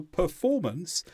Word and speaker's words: performance: word so for example for performance has three syllables per four mon the stress syllable is form so here we take